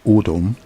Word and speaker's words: Adam: For instance, the name Adam, pronounced "audum" in the Akkadian tongue, is a title and also a tribe.